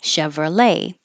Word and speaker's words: Chevrolet: and we started with Chevrolet it looks like there's a t but we don't say the T Chevrolet and if you use